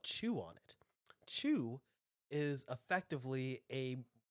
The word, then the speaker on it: qu: QU, but it's pronounced chew.